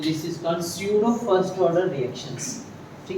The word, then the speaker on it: pseudo: अच्छा देखो टॉपिक मैंने लिखा है स्यूडो फर्स्ट ऑर्डर, तो इसको आप पसीटो मत बोलना, एक तो इंग्लिश में हम बोलेंगे तो पिसीटो होगा ये, यहाँ पे पी साइलेंट है, तो this is called स्यूडो first order reactions.